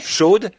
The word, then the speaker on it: Shad: En réalité, le mot hébreu, Shad, S-H-A-D, certains le prononcent Shod, Shad signifie saint, comme un sein de femme.